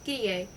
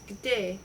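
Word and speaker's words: где: This word, which in her pronunciation may be phonetically rendered as gidie, actually it was gde with e as in yet, meant where, and that was a good deal.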